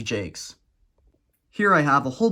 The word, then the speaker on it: Jacques: And yes, it is pronounced Jacques.